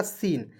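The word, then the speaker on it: scene: पे एक जो है एस को साइलेंट कर दीजिए सी को स लिख दीजिएगा मैं यहां पे लिख रहा हूं ठीक है सी को स लिख दीजिएगा ई अंतिम में मतलब कि इसके तुरंत बाद ई है तो बड़ी के रूप में उच्चारण कीजिए और एन होता है तो न लिखना है हो जाएगा सीन और आपको एक बात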